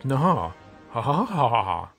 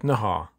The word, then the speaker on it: Naha: no not that Ed Ed Nahar yep that's the way how you pronounce it Ed Nahar so here it is